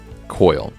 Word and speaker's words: Coyle: let me check out how to pronounce this guy's name really quick coil so the author is um Daniel Coyle uh sorry I was